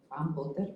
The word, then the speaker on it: Van Potter: Van Potter, para pronunciar bien, en su libro Bioethics of Reach to the Future en el 71.